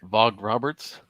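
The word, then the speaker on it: Vogt-Roberts: Jordan Vogt Roberts. Yeah, we'll go with that. Jordan Vogt Roberts. Okay. I guess we'll skip the T pronunciation there.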